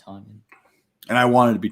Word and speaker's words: Tonyan: right now that's right i keep saying tanyan it's tonyan tanyan onion it don't